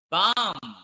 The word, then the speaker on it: balm: Balm.